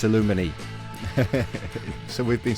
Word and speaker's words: Aluminij: J is silent it's illuminae so we've been saying illuminese the whole time the J is silent so to see yeah